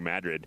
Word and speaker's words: Madrid: past golden you ride into the town of madrid on your way to santa fe and it's not madrid if you're from out of state it's pronounced madrid here in new mexico and of course more